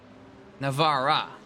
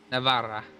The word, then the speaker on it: Navarra: blood in the waters here at Circuit the Navarra, I think. I mispronounced. Yeah, Navarra.